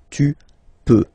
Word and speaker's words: peux: P-E-U-X, okay? Don't pronounce the final x. Tu peux, okay?